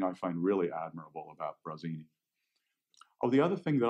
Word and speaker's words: Brasini: BR ACI and I which is funny because of course that's the way you pronounce it in Italian it's Brezina but it's just funny